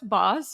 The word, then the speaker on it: Baus: or you like boss but boss you said it right which is great you